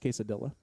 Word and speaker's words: quesadilla: I believe it's pronounced quesadilla. Quesadilla.